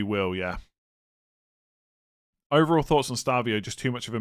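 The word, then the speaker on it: Estêvão: I thought you don't pronounce the E. I thought most of us say Estavio and it's just Stavio. When when I was pronouncing it Estavio, people said it was wrong.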